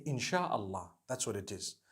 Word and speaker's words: inshallah: in means to create no one says inshi Allah they say insha Allah that's what it